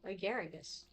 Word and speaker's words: Agaragus: He pronounces his name Agaragus.